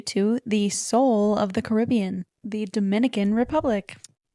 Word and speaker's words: Caribbean: So they pronounce it Caribbean, but if you've ever been to the Caribbean, the locals actually refer to it and they pronounce it as Caribbean.